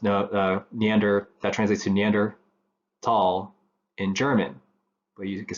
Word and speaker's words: Neanderthal: also still pronounced tall so the H is silent but Germany they standardized